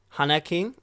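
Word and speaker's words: 花金: hanak king that's uh if you guess if you were to spell it out it'd be like h a n a k i n Han King uh for those studying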